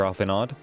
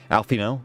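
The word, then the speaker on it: Alphinaud: How lightly you propose the destruction of this god, Master Alphenod. Alfino, sorry. I pronounced it right for so long and I just fucked it up.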